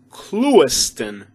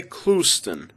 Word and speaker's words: Clewiston: the proper way to pronounce this one is clewiston but the locals say klusten i'm from klusten dal